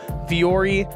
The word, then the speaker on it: Vuori: So Fiore, it's spelled V-U-O-R-I.